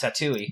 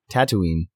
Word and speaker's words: Tatooine: like if Star Wars if they never left tatle tattoo yeah right exactly tatle yeah why do you call it taty how do you pronounce it Tatooine I thought you were doing that on purpose